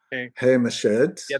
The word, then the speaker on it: Haim Eshed: Yeah, and uh how do you say his name? Is it um Haim Eshed or Haim Eshed, yes.